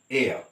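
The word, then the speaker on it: heir: when you say air it is spelled as h-e-i-r but pronounced as air all right a vowel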